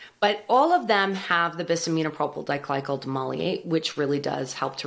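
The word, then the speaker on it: Bis-Aminopropyl Diglycol Dimaleate: Everyone bisaminopropyl diglycol demulcate.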